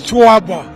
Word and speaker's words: Choaba: And thanks so much, Legendary, for emphasizing, for stressing, and accentuating how that name is pronounced. It's Choaba, yes, and that's it, the Romanian.